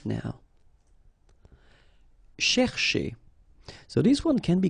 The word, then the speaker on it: chercher: So this first part here, C-H-E-R, you will pronounce it quite open, so it's cher, cher, okay? And then here, just because you've got this ER at the end, okay? If you remember, the rule goes like ER at the end will be pronounced E, okay? So you get chez, all right?